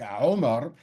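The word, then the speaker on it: عمر: Both the name of the film, Omar, or in Arabic, Omar, is spelled as you would expect it to be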